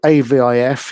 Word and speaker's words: AVIF: another gif jiff schism so avif is henceforth called avif as in celavif okay so my talk